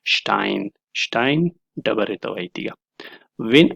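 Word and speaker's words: Stein: سره او کله چې په سر د کلمه کې راشي بیا شین تلفظ کېږي مثلا شټاین ډبرې ته وایي تیږه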